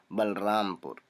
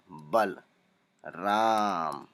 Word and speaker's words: बलरामपुर: अब बल के बाद ए नहीं आएगा क्योंकि जब हम उच्चारण करते हैं तब बलराम के बाद ल आधा ही पढ़ते हैं, बलरामपुर। भले लिखते पूरा है लेकिन उच्चारण के वक्त ल के बाद अ का उच्चारण ज्यादा हम नहीं करते हैं, इसकी वजह से। बांदा, BANDA, बांदा, बांदा।